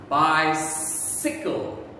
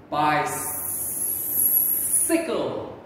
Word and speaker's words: bicycle: c y okay again it makes a s sound by sickle by sickle okay by the end